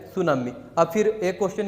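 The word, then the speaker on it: tsunami: और सुनामी में आपको पता ही है इंग्लिश में इसका टी साइलेंट होता है। तो ये जो है सुनामी।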